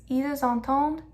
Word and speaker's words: entendent: We pronounce the S at the end of ils and elles just because entend comes right after it. It's ils entendent, elles entendent. We're going to hear the D this time because we have ENT at the end. We don't pronounce the ENT. It's not ils entendent, don't. No, it's just ils entendent.